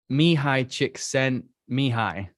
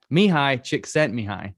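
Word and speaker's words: Csikszentmihalyi: to reference here is me high chick sent me high me high chick sent me high that's how you say his name i checked before we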